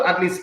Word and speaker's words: Athlst: if you go to Atleast page, you go to Atleast YouTube channel, you go to Atleast is spelled ATHLST, okay, all consonant no vowels.